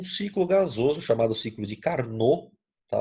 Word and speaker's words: Carnot: gasoso chamado ciclo de carnor tá o pé mudo não é carnot tá bom ar nó e essa máquina de carnou ela possui o rendimento